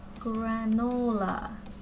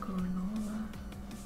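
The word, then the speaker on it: Granolah: Granola. There you go. That's how you say it. Granola.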